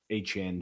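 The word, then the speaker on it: Etienne: or as he told everybody, his name is Travis Hchan Jr., but I'm I'm not going to pronounce it that way until I hear it for a full year of broadcasts because I I I don't believe it.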